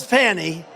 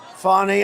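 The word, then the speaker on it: Fani: local cases like funny funny it's spelled Fanny it's spelled Fanny like your ass right Fanny but when she became da she decided to add a little French a little fancy fny fonny and you know fonny and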